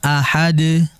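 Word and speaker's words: أحد: Kalau kita perhatikan di Al-Qur'an memang harokatnya adalah tanwin, ya, dhamatain. Akan tetapi kalau kita membacanya dalam kondisi waqaf atau berhenti, maka huruf tersebut harus dibaca mati pula.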